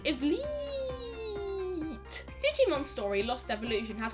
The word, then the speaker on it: Ivleet: just Wolf's in katakana and his name is pronounced is Li Digimon story lost evolution has quite possibly the